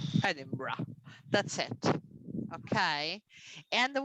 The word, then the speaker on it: Edinburgh: notice here is that there are three syllables in this word it's a very long word in terms of spelling but in syllables there are only three sounds if we look together